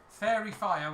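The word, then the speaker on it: Faerie Fire: Yeah, so it casts the spell Fairy Fire, which is spelled Faerie, fire. Fairy Fire, I suppose it would be pronounced.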